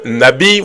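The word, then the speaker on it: נביא: que ce mot prophète vient de du terme hébreu Nabi ou encore Navi en fonction de comment vous le prononcez en fonction des des des personnes qui maîtrise la langue hébraïque ici je n'aimerais pas aller là-bas ça compliquerait beaucoup de personne mais le mot Prophète se dit Nabi en hébreu Nabi qui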